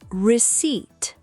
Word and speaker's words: receipt: The fourth word is receipt. The r e c e i p t. The p is silent.